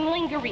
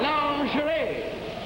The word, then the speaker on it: lingerie: Now remember that pronunciation. Now try this once again. Today Monae has a sale in lingery. No. Lord and Taylor. No, it's lingerie.